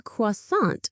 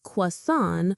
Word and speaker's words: croissant: I had a butter croissant for breakfast. In English, we say croissant or croissant.